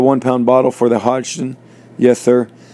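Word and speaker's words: Hodgdon: PB bottle for the hodon yes sir how do you say that I believe it's hogden hogden uh the and in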